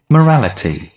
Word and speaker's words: morality: مورالیتی مو نیست، مورالیتی بین او ای بازم تلفظ میشه، شوا ساوند هستش. مورالیتی Morality.